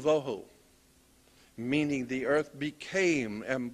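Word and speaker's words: בֹהוּ: Vohu would be V-O-E W-H-O, tohu, vohu, waste, desolation.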